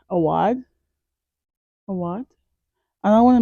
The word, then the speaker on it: Awad: Not Mona Award, Awad.